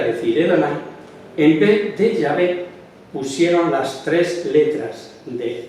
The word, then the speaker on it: Yahvé: Pues está bien, porque todos los hebraístas modernos, los que estudian el idioma hebreo, están de acuerdo que la manera original y primitiva de pronunciar el nombre de Dios debía ser Yahvé y no.